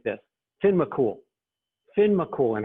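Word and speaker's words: Fionn mac Cumhaill: the way it looks fionn mccomb hale but gaelic is almost never pronounced the way it's spelled and it's just simply pronounced like this tin mccool finn mccool and how how cool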